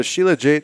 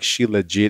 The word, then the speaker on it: shilajit: use it you know sheila jade is uh you can pronounce it any way you want i like shilajit it makes me want